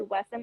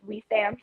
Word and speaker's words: Wessam: So I found out his name isn't actually Wessam, it's pronounced Weesam, so I've been saying it wrong.